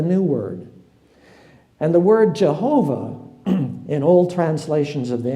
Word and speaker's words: Jehovah: the word comes from German so you have yahovah but uh because German doesn't have a J but when it comes into English you have j instead of Y and then you have Jehovah okay so it doesn't matter if I lost